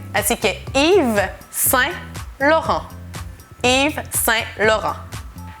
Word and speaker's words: Yves: Y en realidad, primero, si tomamos su nombre, es Yves. Yves. Hay una S, no sé qué hace ahí esta S, pero no se pronuncia, así que Yves.